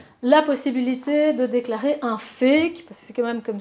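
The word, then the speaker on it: PHEIC: possibilité de déclarer un fake parce c'est quand même comme ça qu' l'appelle c'est enfin je veux dire je trou ça extraordinaire en anglais P h e i ça se prononce fake donc c'est public health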